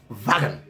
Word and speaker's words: Wagen: Guys, W-A-G in Afrikaner or German language is pronounced Wagen.